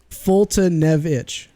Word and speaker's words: Foltynewicz: what she said multi new exclus how bad foltynewicz now it's closed mouth closed Fulton evich that's how it's pronounced doesn't even make sense for the spelling